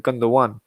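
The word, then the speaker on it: Gündoğan: watching my old episode oh it's not gundam gundam one so apologies i need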